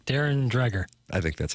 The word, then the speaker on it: Dreger: watch this t t Darren Dreger I don't think that's how you pronounce it Darren drer I think that's how